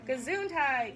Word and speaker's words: Gesundheit: the word right there are you reading along gesundheit good job this is a funny-looking word which is pronounced Gazoo I what kind of word is